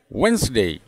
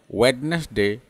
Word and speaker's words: Wednesday: 6 number word है वेंसडे, वेंसडे, वेंसडे, वेंसडे, वेंसडे। जिसको गलत से हम बोलते हैं वेडनेसडे, वेडनेसडे, वेडनेसडे।